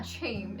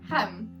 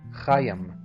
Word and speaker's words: Chaim: I know it's not Chame, it's like Hem, or something like that. I can't say it right. Maybe I'll insert a good pronunciation. Chaim.